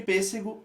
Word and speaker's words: pêssego: Só para destacar ali, o pêssego, a gente usou o acento circunflexo porque é timbre fechado, pêssego, não é pêssego.